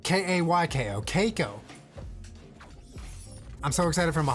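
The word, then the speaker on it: Kayko: time to say that my name is actually pronounced like kaiko I've been getting Kiko my whole life so NBD he much love you and Chad dink Lobby Keiko like k-a-y-k-o caico I'm so excited from a Hardcore Minecraft Monday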